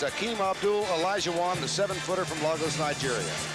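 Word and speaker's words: Akeem Abdul Olajuwon: By the time he is through, you all will know how to pronounce his name. It's Akeem Abdul Elijahwan, the 7-footer from Lagos, Nigeria.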